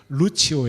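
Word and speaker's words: Lucius: 5 이렇게 되어 있지만 이것을 원해서 라틴어 식으로 발음하면 루치오 에요 무슨 말을 하냐면 이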